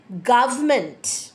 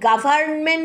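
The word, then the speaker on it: government: গভমেন্ট ভালো করে শুনুন শব্দটা হচ্ছে গভমেন্ট আর কিন্তু সাইলেন্ট হচ্ছে আপনি গভর্নমেন্ট বলবেন না আপনি গভর্মেন্ট বলবেন না আপনি বলবেন গভর্মেন্ট বোঝা গেছে পরেরটায় যাচ্ছি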